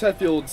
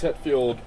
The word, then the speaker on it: Hetfield: that sentiment inspiration for names uh it's james hadfield's stage name james hetfield i finally pronounced his name yeah yeah metallica lead singer